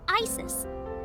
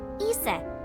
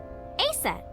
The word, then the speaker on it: Aset: Horus's mom is named Isis, but but in ancient Egyptian, it's pronounced closer to Iset or Aset.